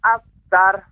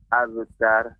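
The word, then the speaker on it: أبتر: Tidak boleh Bapak. Tidak boleh ada hamzah abtar. Tidak. Akan tapi abtar. Iya. Abtar.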